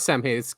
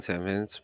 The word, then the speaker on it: Samhain: It's not Samhain. It's pronounced Samhain, right?